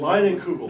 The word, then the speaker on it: Leinenkugel: They had that, I can't even pronounce it, that Google. Leinenkugel.